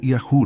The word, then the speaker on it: Yahu: Isso forma Yahu no hebraico, uma pronúncia curta e natural. Em português adaptamos como Yahu, com o R aspirado, refletindo o som gultural do refinal, que não tem equivalente exato no português.